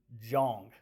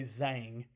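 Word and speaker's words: Zhang: Uh Bo Yan Jong. So it's it's spelled and I've heard a lot of people say Zang. But according to Google, the pronunciation is Jong with a J, j o n g.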